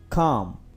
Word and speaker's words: calm: Calm. Calm का मतलब है पुरसुकून. Calm का आप L नहीं प्रोनाउंस करेंगे क्योंकि L साइलेंट है, तो आप पढ़ेंगे calm.